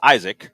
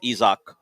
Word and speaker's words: Isaac: hope that isach which we'll have to figure out how to pronounce consistently CU I know reads Isaac yeah but it is ISO Peres is your new